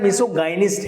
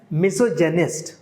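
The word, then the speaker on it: misogynist: नाउ मिसोजेनिस्ट, मिसोजेनिस्ट, अब ये देखने में ऐसा लग रहा है मिसोगाइनिस्ट है ये, बट ये इसका एग्जैक्ट प्रोनाउंसिएशन है मिसोजेनिस्ट, वन हु हेट्स विमेन।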